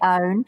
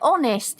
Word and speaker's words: hone: I always say own. It's like honest is spelt with an H, but you don't pronounce it.